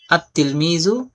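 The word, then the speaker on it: التلميذ: লাম যুক্ত করা হয় আত-তিলমিজু, আত-তিলমিজু। তো লেখার উচ্চারণের মধ্যে দেখেন আত-তিলমিজু উচ্চারণ হবে, আর লেখার মধ্যে আত-তিলমিজু, এখানে লাম থাকবে। লামটা লেখায় থাকবে কিন্তু উচ্চারণে আসবে না।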